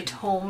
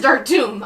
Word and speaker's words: Dark Tomb: instinctively want to say tome, and I apologize in advance. I shouldn't confuse you with your dyslexia. It is Dark Tomb. I just instinctively say tome.